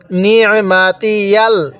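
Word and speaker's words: نعمتي: এরপরে নি'মাতিয়াল, নি'মাতিয়াল, ইয়ালাম জবর ইয়াল, ইয়াকে লামের সাথে লাগাবেন, তাহলে নি'মাতিয়াল। হ্যাঁ, আইনটা একটু চাপ দিয়ে পড়বেন, আইনটা পড়ার সময় গলার মধ্যে চাপ দিলে আইনটা সহি শুদ্ধ উচ্চারণ হবে।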